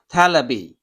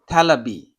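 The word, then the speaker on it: テレビ: So V in English doesn't have a equivalent sound in Japanese, so they become a B. So television, for example, it will be telebi, telebi, telebi, telebi.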